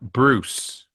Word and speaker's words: Brosse: Now you pronounce that Bruce.